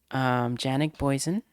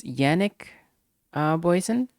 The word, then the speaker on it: Janik Boysen: Oh, J is pronounced in. Okay, so it's Yannick Boysen.